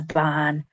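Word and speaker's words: bàn: off-white really is a ban. And you want to stretch that sound nice and long, ban, because it's got the accent on top.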